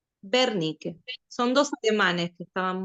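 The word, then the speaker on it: Wernicke: En el cerebro están dos áreas específicas que se llaman área de broca y área de vernique.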